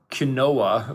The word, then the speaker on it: quinoa: the new hot thing like oh i eat quinoa i don't know it's just like i didn't realize grains could be cool but apparently that's that's the thing that's spelt q-u-i-n-o-a yes it's spelled quinoa but but it's pronounced quinoa and it's touted